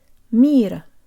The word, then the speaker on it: мир: If you have trouble with the think of the English phrase meet up. Say it fast so that the T is made with a flick of the tongue. Meet up, meet up. Now take off the P. Mita, mita. And now overemphasize the meet and minimize the so that it's almost not present. Mira, mira. This is a good approximation of our word.